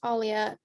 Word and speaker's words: Aaliyah: the animation this is aaliyah and yell at me if i pronounced your name incorrectly um yeah it's alia i discovered way too